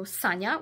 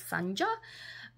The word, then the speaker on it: Sanja: bit um weird seeing I don't know Sanya which I think English speaking people would maybe pronounce Sanja and then Shimon written